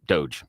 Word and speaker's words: Doge: Dodge Department of government Doge Doge yeah doge is how you pronounce it because it's a meme yeah it is a